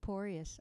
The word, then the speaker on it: Poryes: uh until the next time this is porius i didn't even say who i was yeah my last name is spelled p as in piano which is a